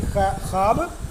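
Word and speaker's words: خواب: परछाइयाँ हो गया, तलखियाँ हो गया, आओ कोई ख्वाब बुने, आओ कोई ख्वाब बुने। ख्वाब लिखा जाता है, ख्वाब पढ़ा जाता है, वाव साइलेंट है, वाव मादूला रहता है, इसके बारे में बाद में बताएंगे, ठीक है।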